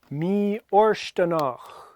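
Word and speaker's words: mì-fhortanach: Mi orstanach. FH is silent.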